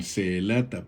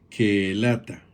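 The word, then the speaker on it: קהלתה: Como ya vimos y podemos ir notando, hay una pronunciación similar con Seelata, porque Seelata nos lo traducen a nosotros, pero en hebreo es Keelata, así como hoy Maselot nos lo traducen a nosotros en español, pero la pronunciación es Makelot.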